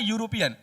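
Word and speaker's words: European: मैंने क्या बताया उच्चारण जब किया य आया और य मेरा क्या है? व्यंजन वर्ण है।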